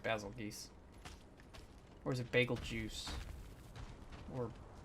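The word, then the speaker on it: Bazelgeuse: geese or is it bagel juice or bagel goose i don't know people call it whatever i know the actual pronunciation is basil geese but i like the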